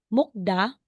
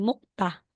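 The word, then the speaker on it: 먹다: letter T Sorry so hindi mo sasabihing mukda magigiging mukta mukta yan talaga yung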